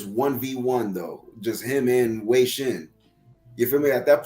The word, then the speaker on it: Wei Shen: Wei Shen.